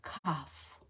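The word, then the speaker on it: quoph: the Ally of the week is the letter cough and if you want to look it up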